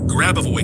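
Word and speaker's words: Grabovoi: Grab away codes.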